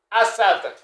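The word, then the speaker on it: أسد: Alors, Assadoun, Assadoun, ça s'écrit Assadoun, mais ça se lit Assad.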